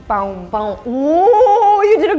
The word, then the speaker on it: pão: So the word is pão. Pão. Pão. Ooh, you did a good job. Ooh. Usually the problem with Brazilians is, with foreigners trying to learn Portuguese, Brazilian Portuguese, is the nasal sound, but you did a good job.